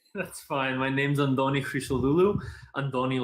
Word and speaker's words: Christodoulou: My name's Antonis Christodoulou. Antoni, like in Antoni. That's but yeah, I'm Greek. Yeah. Antoni. Yeah, Antoni. It's like a TH or a D sound in the Greek language.